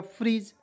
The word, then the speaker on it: freeze: Double E से लिख दीजिएगा बड़ी की मात्रा, जेड का उच्चारण ज के रूप में हो जाएगा फ्रीज, तो FREEZE, क्या पढ़ेंगे? फ्रीज।